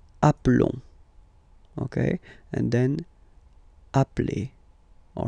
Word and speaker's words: appelle: So when you get this e vowel, and then you get a double consonant, and well, they are the same, then it does change the pronunciation of e. You tend to pronounce it like really open. That's the reason why you pronounce it appel.